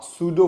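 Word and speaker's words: pseudo: इसे आप सूडो force भी कह सकते हैं, मतलब इसको ना सूडो force something which doesn't exist, ठीक है, ऐसा भी इसको बोलते हैं कि इट्स सूडो force. P silent रहेगा, ठीक है।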